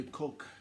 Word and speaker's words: Koch: C'est concernant du politique de Michael Bloomberg et des Koch brothers, des frères de Koch family.